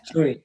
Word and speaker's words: SUNY: How do people pronounce that as one word? SUNY, State University of New York.